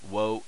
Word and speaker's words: ヲ: which ever way but this is technically it's pronounced woah wo you usually see it pronounced oh because he's so often as a particle which usually for Indian